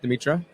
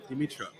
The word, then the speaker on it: Dimitra: of all introduce yourself this is Andreas from demitra did I pronounce that right Dimitra yes Dimitra and this is again going back to the